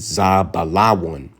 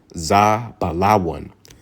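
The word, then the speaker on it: זבולון: one Zebulon which in the Hebrew how you pronounce it is z balaan z balawan all right and that means my dwelling all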